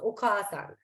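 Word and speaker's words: お母さん: But for you to understand, Oka-san में भी A का जो pronunciation है, you have to stretch that. So Oka-san.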